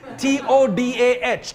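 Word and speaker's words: תודה: T-O-D-A-H, Toda. But if you're really, really, really, really grateful, you will say Toda Rabba.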